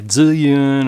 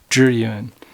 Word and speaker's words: Zhiyun: uh thus the name juryun a lot of people on the internet will say zillion or some weird weird uh pronunciation of it it's actually jeruin so let's take a